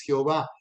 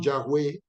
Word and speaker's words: Yahweh: hebrea Yahweh o Yahvé, una palabra mal traducida a nuestro idioma para este nombre es Jehová. Es más correcto Yahvé o Yahweh, y eso significa yo